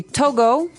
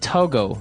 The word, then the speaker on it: Togo: Okay, so it's Togo. That's the way you pronounce it. Because if you look at it, I would say to go. Right, but it's not to go, it's Togo.